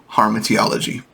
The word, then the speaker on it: Hamartiology: So I just want to break this down and give a quick intro to Hamartiology.